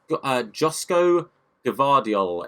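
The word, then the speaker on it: Joško Gvardiol: Again, I've done it to myself and gone with a player that I don't know how to pronounce, but Josko Gvardiol is how that's being said if we sign him for the rest of the series.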